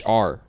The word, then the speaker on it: Mohr: It's Mohr. So Moore.